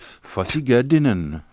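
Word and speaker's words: Ffos-y-gerddinen: nelson is originally called fosse gerdinan which is pronounced fussy girdin yeah i can imagine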